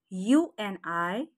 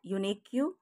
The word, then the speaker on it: unique: So today's first word is UNIQUE, is not unique, it is unique. I repeat, it's unique. UNIQUE is unique. QUE is k, it's pronounced as k.